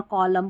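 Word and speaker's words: column: ना स्पेलिंग के, तो यहाँ पर एन साइलेंट रहता है, इसको ऑटम और कॉलम पढ़ते हैं।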